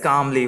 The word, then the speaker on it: calmly: Yes, calmly. What it is? Calmly. CALMLY, calmly. Here the letter L is silent.